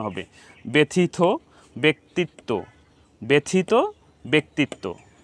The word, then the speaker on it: ব্যক্তিত্ব: ব্যথিত ব্যক্তিত্ব, ব্যথিত ব্যক্তিত্ব। তো আমরা এখন বুঝতে পারলাম যে জফলা সংযুক্ত হওয়ার পরে যদি হ্রস্ব ইকার থাকে, তাহলে সেটা আমাদেরকে উচ্চারণ করতে হবে একার অন্ত দিয়ে, একার, ব্যক্তিত্ব বা ব্যথিত।